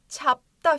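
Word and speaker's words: 잡다: dağ olduğunu biliyorum mek-mak çapta fiil kökü Burası Tap nasıl okunuyormuş çap şeklinde okunuyor ne anlama geliyor çapta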